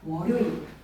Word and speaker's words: 월요일: 근데 월요일이 아니라 월요일이야. 미은을 첨가를 시키지 않는 발음이 표준 발음이 월요일이야. 월요일.